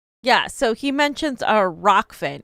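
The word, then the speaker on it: Rokfin: really scared to yeah so he mentions a rock finn it's he he didn't say it right but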